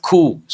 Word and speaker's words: coup: also use the word coup o u p the letter p is silent coup and sometimes it may fail fail then we use the word fiasco.